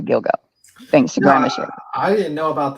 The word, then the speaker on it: Gilgo: the Gilgo Beach and I only know how it's pronounced from the word dildo to Gilgo Thanksgiving I didn't know